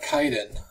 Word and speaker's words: Kwaidan: to be talking about kaiden i guess is how it's pronounced i guess like the w is silent this i don't know